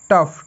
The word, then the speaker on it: tough: টাফ, TOUGH, টাফ। So next WR এর উচ্চারণ হয় র, WR এর উচ্চারণ হবে কি র এর মতো, র।